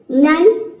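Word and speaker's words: none: तो ये कुछ वर्ड्स है, जैसे कि देखिए यहाँ पे सम, नन, डन, लव।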